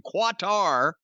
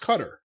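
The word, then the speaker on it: Qatar: are taking bookings in quattar somewhere in the middle east huh it's pronounced cutter well they'll cut her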